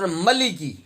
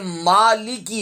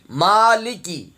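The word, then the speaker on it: مالك: میں نے بزرگوں سے ملکی، یہ بھی غلط ہے، یہ بھی غلط ہے، یہ مالکی ہے، مالکے بھی نہیں پڑھنا، ملکی بھی نہیں پڑھنا۔ جو صحیح ہے اس ادائیگی ہے تلفظ کی، مالکی۔ یوم الدین نہیں پڑھنا،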